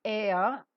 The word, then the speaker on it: heir: H-E-I-R, air. H is silent.